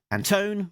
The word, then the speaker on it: Anton: Brusso, editor Alex Anton, Anton rhymes with phone, publication design, Jillian Crab, production design, Richard Marcado, and creative cons consultant Diana Davis.